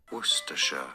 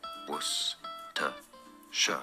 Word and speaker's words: Worcestershire: Worcestershire. Stress on the first syllable. Worcestershire. Yeah. Only 3 syllables.